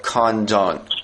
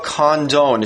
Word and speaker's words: Condon: know that mayor Carla condone is that how you pronounce her name Kim uh yeah I think it's Condon Carla Condon the mayor